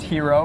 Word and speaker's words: HXRO: go to hxr so it's pronounced hero but we we bring